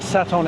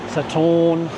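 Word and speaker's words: Sathorn: it so from that saton area saton Saturn however you want to pronounce it can be pronounced a couple of ways I'm walking along sort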